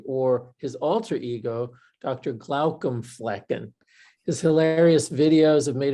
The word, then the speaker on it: Glaucomflecken: Well, first of all, good job saying my name, Glaucomflecken. You nailed it. You went slow. That's the key. You gotta take it one syllable at a time.